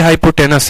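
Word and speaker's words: hypotenuse: तो हाइपोटेन्यूज होता है लेकिन पढ़ते हाइपोटेनस है, पढ़ते हाइपोटेनस है, ई साइलेंट रहता है।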